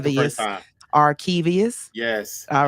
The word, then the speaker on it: Arkevious: You Arkevious, you said it right the first Arkevious, time. Arkevious.